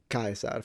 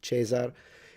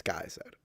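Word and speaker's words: Caesar: know, but we do know that it was pronounced kaisar for anyone who's still skeptic about that and thinks it should be pronounced chazar in the ecclesiastical Latin pronunciation not 2,000 years ago. It's Kaiser.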